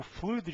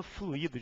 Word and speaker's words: fluido: só olha essa frase Verifique o fluido de freios Eu não falo fluído de freios se eu empreguei essa palavra como substantivo eu tenho que fazer eu tenho que construir essa palavra sem acento ó Verifique o fluído